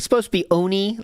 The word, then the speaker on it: oni: it's supposed to be Oni like Oni is the you're supposed to say it but a lot of people just make it an a sound I don't know why